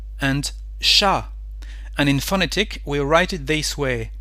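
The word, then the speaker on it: chat: let's take some example sha for cat so here we don't pronounce the letter T So at the end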